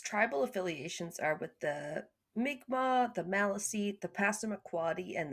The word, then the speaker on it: Mi'kmaq: Also, it's spelled, the other one's spelled like Micmac, but as we've come to learn, it's pronounced Mi'kmaq.